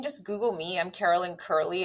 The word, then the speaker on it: Kurle: Google me I'm Carolyn Curley it's k-u-r-l-e it's spelled funny but it's pronounced curly and there's no other